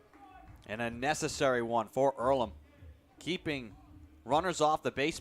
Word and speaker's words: Earlham: what opportunity can do is it heirloom is it pronounced earlham it's earlham and it's a place